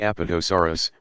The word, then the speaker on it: Apatosaurus: plant eaters include the Apatosaurus pronounced up at esa WR us used to be called